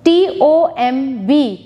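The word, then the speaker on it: tomb: in your notebooks Gourmet t-o-m-b Tom B is silent p-l-u-m-b-e-r plumber B is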